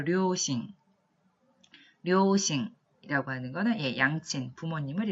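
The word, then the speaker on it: 両親: 발음해볼까요? 료싱.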